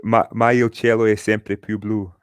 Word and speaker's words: Ma il cielo è sempre più blu: You do give us the proper way to pronounce this next one, please. So it's Ma il cielo è sempre più blu, and it's essentially saying that no matter what, my sky's always bluer.